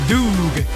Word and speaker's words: Doog: It's pronounced Doog. Everyone says Doug, it's so funny.